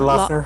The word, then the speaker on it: Loughner: This Jared, how do you pronounce his last name? Jared Jared Lochner, Loughner. Lochner.